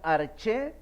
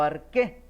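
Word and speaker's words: ἀρχή: Y ese término griego es la palabra arge, que se puede pronunciar arché o arqué.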